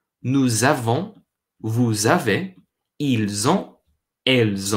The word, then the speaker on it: nous avons: What that means is we actually pronounce the S, but instead of the S making a sound like an S in English, it actually makes more of a z sound, more of a z or a z sound.